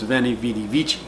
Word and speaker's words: veni vidi vici: do they use the ecclesiastical pronunciation which is the V is pronounced like a V in English and the C is pronounced like a chip sound like in church that's why their last